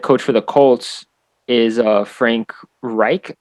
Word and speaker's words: Frank Reich: So the head coach for the Colts is Frank Reich, I believe is how you pronounce it.